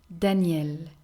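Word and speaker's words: Danielle: d could be daniel daniel and here again the pronunciation is the same for the feminine version with the two ls and the e but we spelled it differently daniel masculine name starting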